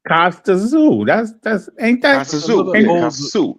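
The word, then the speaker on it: Kostya Tszyu: The guy's last name is spelled TSZYU. Yeah, that's Costa Zoo.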